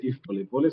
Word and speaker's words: Yves Polepole: Je crois que le nom est très bien prononcé, c'est Yves Polepole, c'est en fait du Swahili.